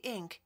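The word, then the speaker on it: Inc.: 자, WZ Ink라는 것은 Ink는 여기서 incorporated를 약어로 이렇게 쓰는데 실제 발음을 할 때도 그냥 Ink라고 읽는 경우도 있어요. 풀어서 incorporated라고 읽는 경우도 있습니다만, 자, 그래서 WZ라는 이제 주식 회사를 얘기한 거죠.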